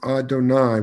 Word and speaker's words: Adonai: is that the rabbis, in pronouncing that name, pronounce it as Adonai, which means my Lord.